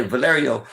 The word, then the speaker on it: Valerio: ] down on valer and when I say Valerio that's a little side street it's spelled v a l e r i o